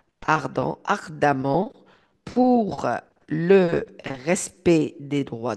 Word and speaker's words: ardemment: le verbe militer donc vous militez donc ardement ardemment donc avec ça se prononce à Ardant ardemment pour le respect des droits de l'homme cela